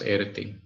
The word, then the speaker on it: Irti: It means pertaining to, and it's pronounced Irti. And it has a male connotation, although it ends with the pronunciation the.